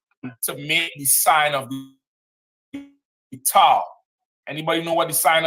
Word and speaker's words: tau: I believe it's the 19th Greek letter, T-A-U. It's pronounced tau, but it's really a cross.